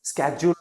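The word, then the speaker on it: schedule: इसके दो प्रोनाउंसिएशन होते हैं। एक शेड्यूल भी बोलते हैं ब्रिटिश में। स्केच्यूल अमेरिकन में बोलते हैं।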